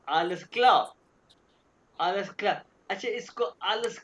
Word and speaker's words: klar: क्यों भी आशिर आलस क्ला क्यों? या आलस अल्सक्ला। ये क्या ऐसे ही कहते हैं जो आलस क्ला, हाँ klar. ये हाँ जी आलस बिल्कुल। क्लार नहीं कहना। सर ये आर हाँ साइलेंट है।